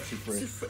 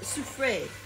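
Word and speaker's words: Soufrière: Soufre. You don't pronounce the R. Soufre. Soufre.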